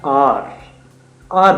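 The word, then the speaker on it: hour: तो उनके लिए बेसिकली हम हार बोलते हैं हावर बोलते हैं बच्चे उसको मिस प्रोनाउंस कर जाते हैं ए यू आर होता है आर आर बोलते हैं बेसिकली तो अ जो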